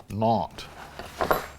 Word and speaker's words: Nantes: But the ones we're growing today is the Nantes. The S in it is silent. Nantes.